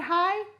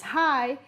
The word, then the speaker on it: high: you see the word high it's not high like this it's high h-i-g-h we don't pronounce the g do you see the